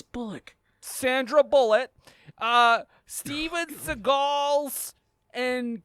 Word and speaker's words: Bullock: It's pronounced chemistry. Chemistry. This is fun. The nominees are Jason, Patrick, and Sandra Bullhorn from Speed 2 Cruise Controls. It's Bullock.